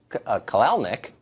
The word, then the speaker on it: Kalanick: for moral posturing the CEO of uber Travis kalanick that's how it's pronounced said his company his quote always believed